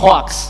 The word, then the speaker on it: hoax: kata hoax gitu ya kata h o AX itu dibacanya Hoa ya karena lidah kita lidah Indonesia jadinya hoak ya enggak apa-apa ya kita mengerti ya masing-masing tetapi sesungguhnya yang benar adalah hoax menurut KBBI ya hoax itu